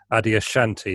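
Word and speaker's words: Adyashanti: know if this is the right way to pronounce it adi ashanti is that right yeah yeah an american spiritual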